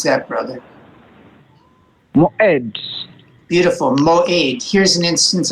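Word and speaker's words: מועד: Moed. Beautiful. Mo'ed. Here's an instance of our cholam. And two syllables, one open and one closed. Mo is open and aid is closed.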